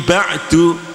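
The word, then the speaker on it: بعد: juga harus tetap terbaca, maka bacanya mim ba'd, ba'd. Nah, tidak mim ba', itu namanya hilang atau korupsi.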